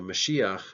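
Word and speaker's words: משיח: is anointed is known as a messiah so mushiya means anointed one and so this is where we get the word Messiah it's the English transliteration of the term mushiya means to be anointed the Greek translation of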